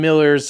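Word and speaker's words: Milar: it's Adam marar but it's m i l a r um I guess it's still pronounced Miller because I talked to him he's it's a Scottish thing it's it's a Scottish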